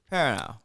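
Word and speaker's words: Perrineau: you know the actor Harold per Perry Harold parano how do you pronounce his last name Harold perano parano Paran now yeah Paran now Paran now I'm not going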